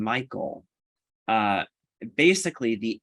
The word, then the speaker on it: Michael: um so in this the second syllable of my name michael uh basically the l